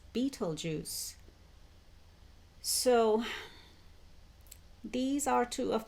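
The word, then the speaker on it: Betelgeuse: being spelled but or that's how it's spelled but it's pronounced as Beetle Juice so these are two of the brightest stars in the sky Riel and Beetle Juice and they are located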